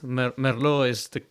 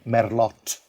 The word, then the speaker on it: Merlot: going to receive a merlot so you have to pronounce the t at the end if you say merlot they will know you